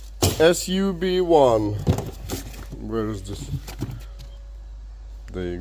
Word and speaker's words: SUB1: sub most way uh the model number is sub one that's literally how it's pronounced su1 where is this there